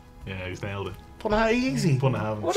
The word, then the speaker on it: Bunnahabhain: Bun of Heaven. Yeah, he's nailed it. Bun of Heaven, easy.